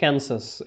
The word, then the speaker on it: Kansas: for the ক্যান্সাস, Italian এটার উচ্চারণটা হচ্ছে ক্যান্সাস, এটাও একটা শহর ইউএস এর।